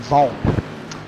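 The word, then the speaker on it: Wang: Now, I do know that the 85 car, his name is spelled W-A-N-G, but it's actually pronounced with a V and an O instead of a W-A, so it's actually Stefan Vaughn.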